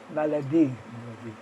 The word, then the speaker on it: maladie: Malady, malad. It's pretty well said the same way also, except that it's spelled a little different. Malady has a dy at the end, but in French it's maladie, maladie, maladie.